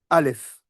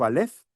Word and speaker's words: Aleph: C'est-à-dire que lorsqu'on prononce la lettre Aleph, on n'entend pas la lettre A.